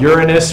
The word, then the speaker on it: Uranus: eight percent Jupiter about 4.8 Saturn about 5.4 Uranus remember that's how you pronounce it okay it's 4.7 percent Neptune almost